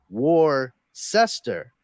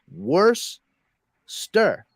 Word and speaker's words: Worcester: when they look at the word they're looking at it as War sister yeah but you actually have to separate it after the CE so it's worse stir Worcester Worcester same thing with Gloucester